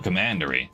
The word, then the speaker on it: commandery: Oh, commandery. Right, like command.